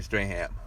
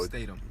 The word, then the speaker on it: Statham: with The Rock and Jason Strahan. So Statham. Statham. That's how you say it? Statham? Yeah, Jason Statham. I've been pronouncing this man's name wrong for years.